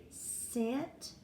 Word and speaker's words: cent: would be Sen T so a soft C sounds like an S okay so sometimes the